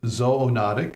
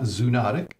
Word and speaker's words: zoonotic: andology for study of so that's why we pronounce it zoonotic not zootic oh so much zootic sounds